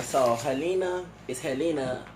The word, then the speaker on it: Gelena: All right, so Helena is Helena. Is it Gelena? Helena. Because sometimes G in Spanish is pronounced as a H.